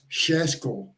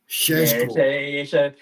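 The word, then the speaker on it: Šeško: watch the broadcast, is Shesko. Oh, Shesko? Shesko. Yeah, it's a Eastern European pronunciation. So Shesko, I would love to have him at the club, 1,000,000%.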